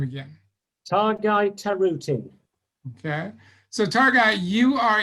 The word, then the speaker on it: Tarutin: knows how to say your name again guy taruti okay so targa you are a new author